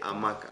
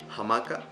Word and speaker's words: hamaca: Something important with the H is in Spanish we don't have a sound. So in this case, with this word, for example, in English we say hamaca, but in Spanish we just say hamaca.